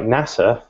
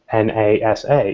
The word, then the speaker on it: NASA: an impact on how screen readers for example pronounce things so words like NASA if you make it a capitalized then it may say na sa rather than NASA which we don't really further